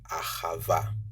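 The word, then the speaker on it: אהבה: you say love in modern Hebrew it is Ahava hava so in love you know the L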